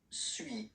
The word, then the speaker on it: suis: Okay, so first one, suis, as you've been noticing, you don't pronounce the final S, okay?